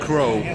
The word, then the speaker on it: Krogh: Yeah, just like in the bird crow. Crow. Adding a G.